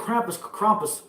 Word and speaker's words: Krampus: Hey, can I get a Krampus? I gotta say Krampus because otherwise Steve will want to fucking smash my nuts for not saying Krampus and not Krampus because we say it wrong.